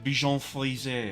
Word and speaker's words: Bichon Frisé: The Bichon Frisé is how it's officially pronounced.